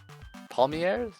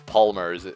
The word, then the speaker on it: palmiers: Palmiers? Yeah, they're palmiers. I mispronounced those as palmers when I first saw this scene.